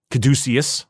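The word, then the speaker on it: caduceus: of a space marine stylized look like the kaducius. That's how it's pronounced.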